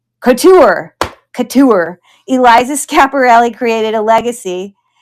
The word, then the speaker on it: couture: Kosher? No, that's not right. It's a French word, right? Couture.